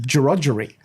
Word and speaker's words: Gregory: But the Gregory Hotel is actually pronounced Gerogery. I laugh every time someone buggers it up, and you should see the locals melt down.